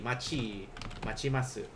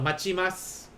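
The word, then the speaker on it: 待ちます: Like if you put this T here, it's still going to be pronounced as chi instead. So machimasu.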